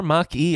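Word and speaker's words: Mach-E: yep Ford Mustang mache or Maki as Ford would like to call it Patrick tell me about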